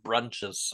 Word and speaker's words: Bruintjes: BRUINTJES. Brunches. Like Bruins.